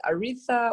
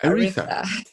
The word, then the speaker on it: Aretha: Okay, you can pronounce it as Aretha or Aretha.